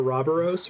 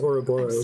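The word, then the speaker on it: Ouroboros: was um bravely default mispronounces it or robberos which sounds cooler it's actually pronounced auroboros sorry about before it's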